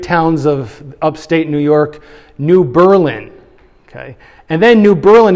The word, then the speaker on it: New Berlin: If you were to read it, you might say, that's New Berlin, right? Because we say Berlin, Germany. But if you're from that area, you call it New Berlin.